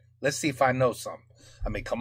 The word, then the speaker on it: Y: Il y a même une commune dans la Somme qui s'appelle I. C'est un Y mais ça se prononce I.